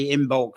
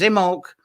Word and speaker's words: Imbolc: uh and i say in bulk sometimes but uh the um the b is not pronounced actually and if you're actually